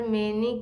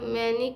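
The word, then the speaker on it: many: देखे, आपने देखा ना कि किड्स नहीं था, सॉरी, देखिए, there are मैनी kinds, मैनी नहीं मेनी, मेनी kinds of nets,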